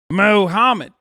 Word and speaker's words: Mohammed: Mohammed.